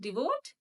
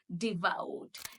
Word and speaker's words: devout: How do we pronounce this word? Devote? It is devoured. Devout.